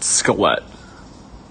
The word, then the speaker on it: Skelett: I can't remember if y'all have ever said my last name, but just a heads up, it's pronounced Skelett. So Skelett.